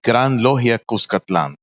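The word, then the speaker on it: Gran Logia Cuscatlán: Oh, my Grand Lodge is Gran Logia Cuscatlan.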